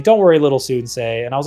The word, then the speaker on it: Soonsay: So in Croatian, it's like Sunce or something like that. But I was not going to risk people saying Sunce. So I just went phonetically and went Soonsay.